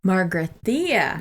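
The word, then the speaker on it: Magrathea: It's, okay, help me with the pronunciation of this one. Margrathea? Margrathea. Margrathea.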